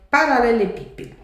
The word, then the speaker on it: paralelepípedo: Paralelepípedo. Ra, lé, lê, pi, pe, do.